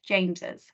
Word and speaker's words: James's: The apostrophe goes after the S, but it's still pronounced James's.